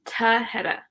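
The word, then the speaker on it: Tahereh: wrong and i'm so sorry it's tahedah i knew it was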